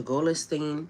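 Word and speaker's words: Golestan: Now, the place that's in Tan, if you go look it up, is called the Goolastine Palace. It's spelled G O L E S T A N.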